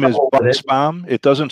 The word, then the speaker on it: Buchsbaum: I'm going to let you pronounce your last okay, name. Okay, the last name is Buchsbaum.